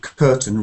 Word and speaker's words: curtain: pronunciations there raise and curtain doesn't have any uh ending stress so curtin raised the black curtain so